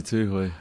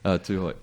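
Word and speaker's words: Tūhoe: Ngatu Tuhoi. Tuhoi.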